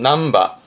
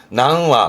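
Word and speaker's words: 何羽: 발음은 남바. 요즘은 보면 복잡하다고 전부 다 와를 써가지고 낭와, 뭐 세 마리면 상와 그러는데, 세 마리도 삼바, 몇 마리도 남바가 원래 정확한 표현이고요. 근데 요즘은 그냥 낭와라고도 쓰기도 한다고 합니다만은, 정확히는 와를 쓰는데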